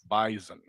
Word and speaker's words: Bison: They want you to say it like a Z. Bison.